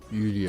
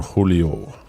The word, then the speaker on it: Julio: on this yo all what the Jay is is silent yeah with the the Mexicans you you don't say you say like you don't say Jean you say Juan what are talking about it's it's Don Julio Julio Julio you almost say